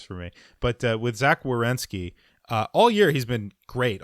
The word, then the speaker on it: Werenski: Well, I made fun of Zach Werenski I can't even pronounce his name. Werenski. Zach Werenski. Yeah. It's like rear wheel drive. I have to sound it out.